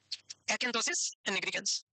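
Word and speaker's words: acanthosis nigricans: भाई मेरे को ऐसे ही बोलना था, इसका मीनिंग एकेंथोसिस निग्रिकेंस से ही बोला होगा, पता नहीं, तो प्रोनाउंसिएशन ऐसा ही है, एकेंथोसिस निग्रिकेंस।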